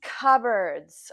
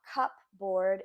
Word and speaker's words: cupboard: and we have some cupboards okay so this is not pronounced how it is spelled so not cupboard it's cupboard what is